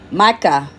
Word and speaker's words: Micah: make it's like Michael but um how you pronounce this um give me a chance hold on Micah it's SP m i c ah H chapter